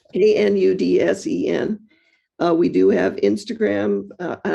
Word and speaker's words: Knudsen: We do pronounce the K. Not everybody who's a Knudsen does. It's a Scandinavian like Smith, but it's Knudsen. Knudsen.